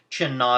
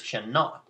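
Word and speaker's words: Qin Na: Chin Na is spelled Q-I-N space N-A, and they're both their own words, so it's like, capital Q, capital N.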